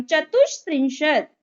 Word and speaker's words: चतुष्त्रिंशत: 34 चतुष्त्रिंशत, चतुष्त्रिंशत, श का प्रोनाउंसिएशन करेंगे हम, चतुष्त्रिंशत।